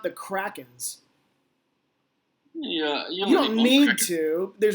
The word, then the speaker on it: Kraken: And I think my mom actually pronounced it. She was like, Seattle Kraken?